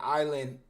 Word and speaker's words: Eyeland: And then Island, the reason it's spelled EYE is just because it's different from ISLAND, right? So it still sounds the same.